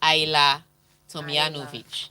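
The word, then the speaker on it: Ajla Tomljanović: to the semi-finals yes so aya is i la so she's originally from croatia um but she grew up in australia soon yeah but she grew up in australia so you still you still pronounce her name in the european way so is aila tomianovic well i want my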